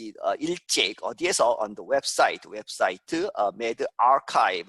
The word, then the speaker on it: medRxiv: 이 earlier 일찍 어디에서 on the 웹사이트 medRxiv 이렇게 읽습니다. RXIV를 archive라고 읽죠.